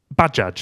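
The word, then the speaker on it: Bajaj: Bad jage. Yes. Okay. Badge. Okay. I hadn't heard it like that. So, not Baja.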